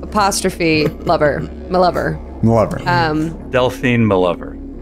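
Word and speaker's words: M'Lover: it's pronounced My Lover? Sorry, yeah. My capital, capital M apostrophe Lover. My Lover.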